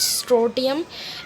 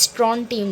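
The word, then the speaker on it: strontium: इट्स नॉट स्ट्रोटियम, इट्स स्ट्रॉन्टियम children.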